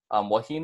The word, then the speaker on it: wahine: Wahine is pronounced wahine. So once again, something easier to pronounce there.